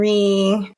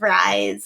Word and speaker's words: Rie: yeah sameul it's justor re reell Rie it's always fun to hear people pronounce my name for the first time I get a lot of rise and but it's R and uh I won't